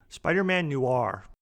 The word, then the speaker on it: Spider-Man Noir: Spider-Man Noir.